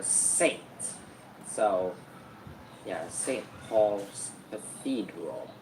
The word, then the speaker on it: St.: So the ST part uh it's actually short for saint.